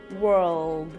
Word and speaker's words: world: sounds like Whirl Whirl the L in world is clearly pronounced your tongue should be raised in the back and the front and the tip of your tongue should touch the back of your teeth world world world then